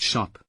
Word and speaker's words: scop: Scop, pronounced shop, in Anglo-Saxon lands.